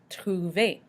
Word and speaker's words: Trouver: Trouver, to find, same thing. However, if it's an IR verb, we can still pronounce the R at the end.